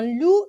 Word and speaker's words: loup: Un loup gris, j'ai pas prononcé le P dans loup et S dans gris.